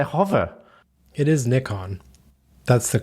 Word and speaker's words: Nikon: It is Nikon.